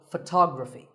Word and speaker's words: photography: first syllable becomes and the stress goes to the second syllable tog Rafi so photography in the same way